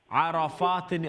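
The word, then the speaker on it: عرفات: आराफातिन, आराफातिन, ये देखिए आप प्रोनाउंस गलत करती हैं आप, अगरचे माशाल्लाह रूल्स आपको याद है लेकिन रूल्स के मुताबिक अदायगी हो। आराफातिन, और यहाँ पर रा फुल माउथ है, राइट जी जी क्योंकि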